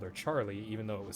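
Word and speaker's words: Charle: her name was actually more more likely to pronounced as Charla um because of how the original Japanese had it spelled but because of the localization and stuff we always called her Charlie even though it was spelled CH h a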